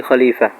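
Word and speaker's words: خليفة: ইন্নী জাইলু feel আরদি খলিফা। আল্লাহ পাক রব্বুল আলামিন স্পষ্ট উচ্চারণ হলো খলিফা, অর্থাৎ পৃথিবীতে যদি আল্লাহ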